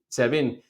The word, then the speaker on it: SEBIN: to encircle and shut down or suffocate the Sebin, I don't know how you pronounce it, Sebin, Sebin officers, Irene. Sabin, yeah.